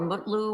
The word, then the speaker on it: Mutlu: Is it Metlu or Mutlu, or how do you pronounce it?